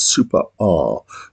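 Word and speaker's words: Super Æ: by boredoms um and I uh understand that the pronunciation of the title is super R but the same to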